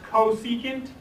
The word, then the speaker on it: cosecant: real quick so this csc function this is pronounced cosecant and all it is is the reciprocal of